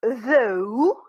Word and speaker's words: though: and that's all because here it will be ooh without any consonant and it's not unusual for this gh because for example if you remember night it is also silent there so it happens with